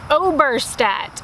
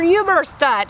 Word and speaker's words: Oberstadt: My last name is pronounced Oberstadt, or if you want the German pronunciation, it is either Oberstadt.